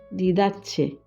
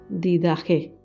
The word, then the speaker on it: Didaché: koine del cristianismo primitivo se pronuncia con j como en griego didatze o didage es posible Esta obra